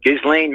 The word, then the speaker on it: Ghislaine: she was the one that's just lame I'm pronouncing her name right Ghislaine Maxwell she was obtaining these young girls for